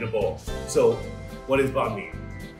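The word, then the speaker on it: bánh mì: So what is banh mi? So banh mi, or bun mi, sometimes pronounced that way, is like a Vietnamese French hybrid dish.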